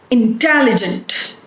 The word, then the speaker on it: intelligent: Intelligent. The stress is on te.